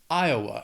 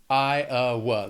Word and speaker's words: Iowa: Iowa has 3 syllables and the stress is on that first syllable. Iowa. Again, Iowa spelling, pronunciation, a little crazy. Iowa. That second syllable has that schwa. Iowa.